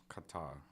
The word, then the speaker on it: Qatar: Qatar. Qatar. Oh. Oh. I mispronounced it, yeah.